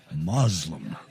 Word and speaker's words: Muslim: is evil and unjust when the word is pronounced as it is in english muslim with a z for others this spelling